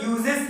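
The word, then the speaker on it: 四: तो इसको प्रोनाउंस करने के लिए हम लोग यो को यूज करते हैं जापानीज में।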